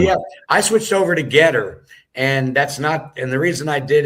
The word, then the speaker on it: GETTR: my messaging can be the most effective on Getter. So if anyone is on Getter, that's spelled GETTR, and it'll be at John Good